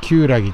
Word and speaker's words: 厳木: この漢字を書いて旧ラギと読みます。